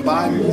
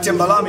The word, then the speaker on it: Thembalami: You see, my name has been evolving. I think people pronounce it differently. It's a different Thembani, some Thembi, some but Thembalami is the name.